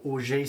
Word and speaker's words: Orgeat: The Orgeat Syrup, or Orgeat Syrup, depends how you want to pronounce it.